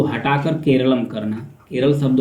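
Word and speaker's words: കേരളം: केरलम को मूल मलयालम उच्चारण का करीबी प्रतिबिंब माना जाता है कि जो मलयालम ग्रंथ है प्राचीन, उसमें जो केरल शब्द है उसका केरल नहीं केरलम के रूप में नाम था।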